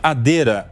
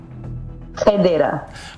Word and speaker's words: Hadera: que vive lá em Israel, na cidade de Hadera. Tá certa a pronúncia, Jess? É assim que fala o nome da cidade? Tá correto? É quase. Quase. Não. Como é que fala? Me ajuda. Federa.